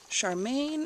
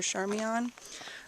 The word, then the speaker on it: Charmian: while Jack London and his wife Charmaine, I think her name is pronounced, or Charmian, while they were riding